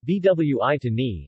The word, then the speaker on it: Buitoni: Buitoni Italian pronunciation vwi to me is an Italian food company based in San